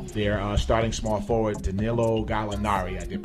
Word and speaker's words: Gallinari: They had a major blow dealt to them this week when their starting small forward, Danilo Gallinari, I did pronounce it correctly, tore his ACL.